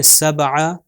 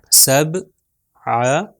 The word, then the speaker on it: سبع: اگلا ہے سبع. سبع. دیکھیں سین اس کے اوپر زبر ہے اور آگے بے ہمارے پاس، اس کے اوپر سکون ہے تو با ساکن.